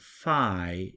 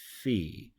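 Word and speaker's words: φι: iota ETA and Epsilon the F sound in Greek is produced by the letter P so this isn't Phi it's fee and it's a letter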